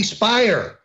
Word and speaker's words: Speier: throw half congresswoman Jackie Speier rhymes with liar running around saying all